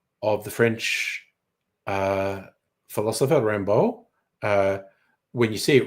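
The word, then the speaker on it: Rimbaud: the French uh philosopher Rambo uh when you see it written it looks like rimo but he's French it's Rambo and this guy did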